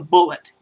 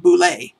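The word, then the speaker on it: bulette: said all these years have called it the bullet but it turns out out if you look at the way it's spelled he went with the French pronunciation of Boule and if you look at that it's actually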